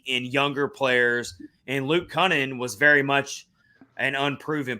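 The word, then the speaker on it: Kunin: And, I mean, me and Rich couldn't even pronounce Luke Cunnin's name right at first. So that's how unknown Luke Cunnin was. Episodes. We were calling him Coonan.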